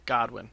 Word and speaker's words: Godwin: no god I'm sorry Godwin I said it wrong I said Goodwin Godwin so I'm not gonna